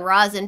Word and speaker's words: rosin: We have information on rosin paper, which is pronounced with a short O.